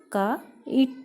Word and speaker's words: kite: आ गया है और T के बाद E क्योंकि साइलेंट है तो जो E का प्रोनंसिएशन है वो I के साथ ही ऐड हो गया है, इसलिए हम इसे का इट पढ़ेंगे, काइट।